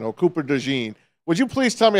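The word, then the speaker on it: DeJean: do you like him I think it's Cooper de but you know you could call him either one um I like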